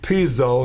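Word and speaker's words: Pizzo: Angelo, I believe it's Piso, is did I say it right? Yeah, Angelo Piso.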